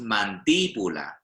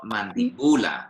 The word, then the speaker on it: mandíbula: When the stress comes somewhere else in the word, often you'll see there is a little accent. So here it's mandíbula. It's not mandibula, yeah?